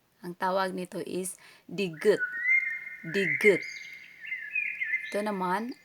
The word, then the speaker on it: 디귿: Ang tawag nito is digut. Digut. Ito naman R o di kaya L sound. Ang name nito or pagbigkas is riul.